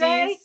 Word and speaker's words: Canazei: And I can't pronounce this, so I'm going to let Megan pronounce Canazei. I don't know. I should have practiced. You nailed it. Yeah. Canazei is in the Skiing in Dolomites. Canazei.